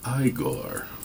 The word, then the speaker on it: Igor: It's pronounced Igor, young Frankenstein.